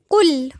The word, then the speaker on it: قل: قل، قاف مضمومة ولام مرققة.